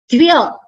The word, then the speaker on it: Divya: so the the and here you need to pronounce it together as Divya here it is it